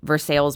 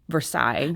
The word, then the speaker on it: Versailles: And there's many that didn't make the book that are, I think of, Versailles, Missouri. It's Versailles is what we think of when we say Versailles.